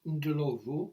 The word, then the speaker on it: Ndlovu: Um again, it's one of these sad occasions where the person who made it was Agnes Ndlovu, which is spelled n d l o v o, Ndlovu.